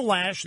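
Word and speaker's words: Loesch: Bible by the way I apologize I've been mispronouncing her name Snerd Lee finally had it he said it / I said how do you get lash out of the way it's spelled see I read closed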